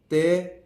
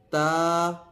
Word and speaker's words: ت: لہجے میں ادا کریں، اردو تلفظ سے پرہیز کریں، یعنی بے، تے، سے، ہے، خے، توے، زویں وغیرہ ہرگز نہ پڑھیں، بلکہ با، تا، سا، حا، خو، تو، زو پڑھیں۔ ان 29 حروف میں